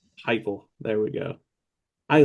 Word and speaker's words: Heupel: I can't pronounce his name. Heupel? Heupel.